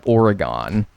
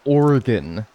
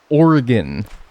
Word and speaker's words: Oregon: That's because for the longest time I always said Oregon. And everyone would snatch my whenever I said Oregon. Cuz it's Oregon. Oregon.